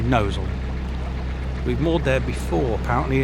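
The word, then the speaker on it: Gnosall: That's the place that's spelled gnoval, but it is actually nosal.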